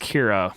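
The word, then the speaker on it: Qi'ra: also our first look at emilia clark as Kyra is that named of Kyra yes it's pronounced Kyra well no I mean the actress is named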